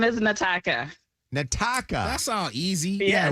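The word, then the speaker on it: N'Taka: My name is Nataka.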